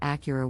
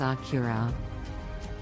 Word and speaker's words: Acura: let's talk about Acura the correct pronunciation is accurate with the emphasis on the second syllable many people mispronounce it as Akira there you have it